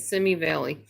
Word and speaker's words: Simi Valley: Now, the sad story is when Little House on the Prairie was filmed, it was filmed in the Simi Valley. That's how you say it, Simi Valley.